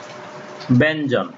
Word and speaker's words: ব্যঞ্জন: যেমন উদাহরণ দেখি, ব্যঞ্জন, এখানে দেখো ইয় জ, তাহলে ইয়ের পরিবর্তে ন হলো আর জ জয় থাকবে, তাহলে ইয়ের সঙ্গে জ যুক্ত হলে ই উচ্চারণের ক্ষেত্রে ইয় থাকবে না, ইয়ের পরিবর্তে ন হস্যন্ত যুক্ত হবে।